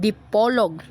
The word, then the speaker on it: Dipolog: Frequent conversations by the Spaniards pronounced in Spanish accent Deep Pol, which was eventually adopted by the natives. The final political survey surprisingly added the letter L written on it after officially became a body of the pitan.